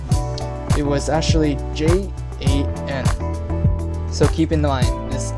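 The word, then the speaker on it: 人: I was completely wrong and it was actually j a n so keep in mind this j a n not y-a-n and in Mandarin you can actually pronounce this as ren so it's going to be r e n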